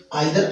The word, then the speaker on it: either: नाइदर ऑफ का हिंदी अर्थ होता है दोनों ही नहीं, यानी कि आइदर ऑफ और नाइदर नाउ, जिनका उच्चारण इधर ऑफ भी बोला जाता है और नीदर ऑफ भी बोला जाता है।